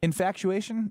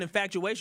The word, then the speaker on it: infatuation: word infatuation infu infu no C bud just infatuation infatuation infatuation infatuation that's how you say it yeah woo Ben I'm right don't feel bad I've been calling infactuation my whole life infactuation infactuation I thought it was a SE in there no infatuation Kyle has